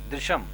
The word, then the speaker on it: दृश्यम: मैं तो remakes movies, अभी जैसे दृश्यम मूवी थी, am I pronouncing it right? दृश्यम, हाँ, दृश्यम प्रोडक्शन है, दृश्यम जिसमें अजय देवगन था, उसमें ओरिजिनल में देखोगे तो कमल हसन है।